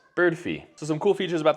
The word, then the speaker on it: Birdfy: want to mention that a lot of people pronounce it including myself pretty much this whole video as birdy but they've actually come out and stated that they're pronounced bird fee so some cool features